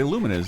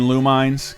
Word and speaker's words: Lumines: you can now play luminas in Delta you mean lumines come on pronounce it right come on down to